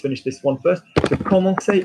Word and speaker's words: commencer: So commencer, notice it starts with a C. There's no cedilla. There's an O after it, so it's k.